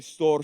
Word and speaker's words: Storr: After that, we have Storr Stronghold, or I should say Storr Stronghold, because year 3, season 3 is all about rolling your R's.